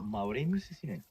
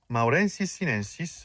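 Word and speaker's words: Mauremys sinensis: Maurenis Sinen. Maurensis Sinensis, right?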